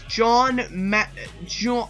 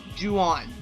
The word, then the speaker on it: Juan: Axel versus John, I don't know how to pronounce that. Juan? Yes, Juan. Thank you.